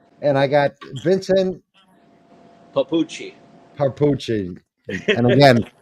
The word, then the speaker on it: Papucci: it's dii dii and I got vinon papuchi papuchi and again not Italian are we yeah no nobody ever pronounces it right so okay give us a